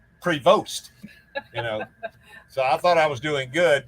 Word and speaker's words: Prevost: not a host because the t on the end you don't pronounce it's a french canadian name pro prevos i think it's pronounced prevost um anyway we're thinking